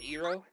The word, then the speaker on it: Gyro: Gyro. No, it's pronounced Eero.